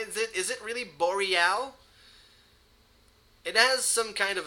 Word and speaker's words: Boreal: english speaking players in boreal esports i've been saying bo real and pixel says it's boreal boreal am i pronouncing